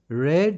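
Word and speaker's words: read: মনোযোগ দিয়ে পড়ে পরে ছিল দা বয় অলওয়েজ রেড এটা উচ্চারণ হবে রেড যেহেতু পাস্ট টেন্স ব্যবহার করা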